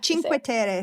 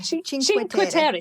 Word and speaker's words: Cinque Terre: I'm not going to pronounce it properly, so so you pronounce this for me, please. The 5 towns, the Cinque Terre. Oh, Cinque Terre. Cinque Terre.